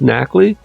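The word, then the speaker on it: Nacli: gargle and I believe this has to be pronounced nackle because this is clearly gargle like Tabernacle and I don't know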